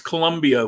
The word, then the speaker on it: Colombia: It's Colombia with an OO, by the way.